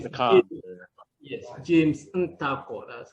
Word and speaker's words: Ntakor: James Ntakor, jump on, my friend. Thank you. Thank you, James. Yes. You got the comp there. Yes, James Ntakor, that's how it's pronounced.